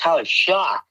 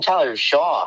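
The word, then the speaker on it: Tyler Shough: It's pronounced Tyler Shock. He's shocked. I'm shocked.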